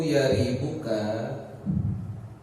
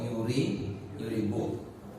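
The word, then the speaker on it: يريبك: Qauluhu yaribuka yurwiya bi fathil ya'i wa dhammiha. Yaribuk itu diriwayatkan dengan dua cara baca ya. Yaribuk atau yuribuk.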